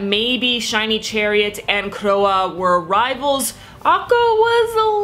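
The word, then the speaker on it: Croix: you who told me the correct pronunciation of crows name it is croa so again thank you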